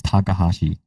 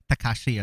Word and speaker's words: Takahashi: last name, which is my last name is Takahashi, I and was close. I knew it Takahashi. was like Takashi or like Takahashi.